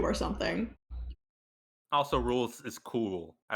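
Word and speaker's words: Rouxls: The X is silent, like a French spelling or something.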